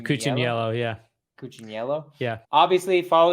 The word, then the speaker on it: Cucciniello: Cucciniello? Cucciniello, yeah.